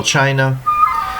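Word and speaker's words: Qin: It was begun in the 200s BC by the Chin Dynasty and that's spelled Q I N but pronounced Chin.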